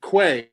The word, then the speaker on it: Quay: packers took this fellow you pronounce it quay here in europe we would say k but anyway this guy